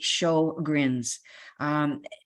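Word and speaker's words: Sjögren's: of Swedish origin but we have anglicized the name to say show grins Sjogren's itself is not curable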